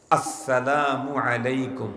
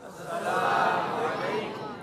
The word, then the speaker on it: আসসালামু আলাইকুম: সব ক্লিয়ার হয়ে যাবে সালামের সময় শুরুর হামজাকে স্পষ্ট উচ্চারণ করেই সালাম দিতে হবে আসসালামু আলাইকুম বলেন আসসালামু আলাইকুম এই আজকে সুন্দর করার